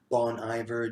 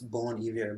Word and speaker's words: Bon Iver: know who bon iver some people pronounce him as bon iver just inverting is the main guy in that musical project but I took French it's born here but this reminds me